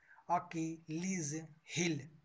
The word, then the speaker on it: Achilles heel: इसका उच्चारण होता है अकिलीज हील।